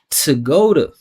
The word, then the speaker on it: to go to: Listen to the sounds. Follow the vibration. Tuh-GOH-duh. Tuh-GOH-duh. That's how you should be pronouncing this every single time.